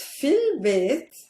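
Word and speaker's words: في البيت: So I don't pronounce this alif because this is the joining hamza. I pronounce it like fil, as if there was no alif at all.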